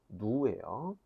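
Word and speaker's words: ν: 누예요. 자, 누라고 하는 기호를 쓰는데 발음은 누 길게 발음하는 식으로 발음하시면 됩니다.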